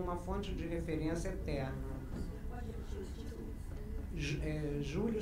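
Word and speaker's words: Giulio: Júlio se escreve G-I-U-L-I-O, e Argan é Argan mesmo. Júlio Carlos Argan.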